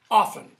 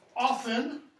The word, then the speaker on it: often: day do you pronouncement often or do you pronounce it often historically that T is completely silent it's not pronounced okay similarly this is